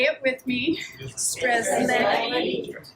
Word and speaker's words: Strzelecki: Strzelecki, Strzelecki, Strzelecki. So, easy. Once you learn how to spell it, it's even easier.